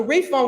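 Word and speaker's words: Ralph Vaughan: is just not so Ray Fon Williams and that's how you say it if you want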